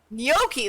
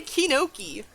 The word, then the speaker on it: gnocchi: How do you say it again? Gnocchi. There we go. I always want to say Kinoki.